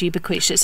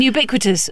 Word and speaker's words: ubiquitous: My big one was saying ubiquitous. For years, I said ubiquitous until somebody said, I presume you mean ubiquitous.